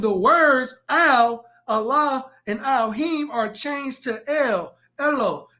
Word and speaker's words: Elohim: And here's the word Elohim. The A in Elohim right here is silent.